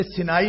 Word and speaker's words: سینا: تو انگریزی میں چونکہ سینائی اس کو کہتے ہیں اور اس لیے مشہور ہو گیا کہ یہ سینا ہے اور ہم صحرائے سینا کہہ دیتے ہیں، لیکن قرآن کا جو تلفظ ہے وہ سینا.